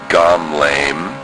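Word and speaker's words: גמלם: The mem has a schwah in the middle of the word, so it's a syllable stop. So the sound is gam, lay, mem sophite, mem. Gamleim.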